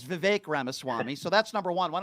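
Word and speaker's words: Vivek Ramaswamy: good leader how about vivec R Swami okay first of all you don't even know how to pronounce his name because you're a dope his name is VI ramaswami so that's number one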